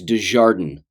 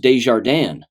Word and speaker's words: Desjardins: not anymore, but the individual's last name was Desjardins. Now that's how they pronounced it, but it's a French name and it's pronounced Desjardins.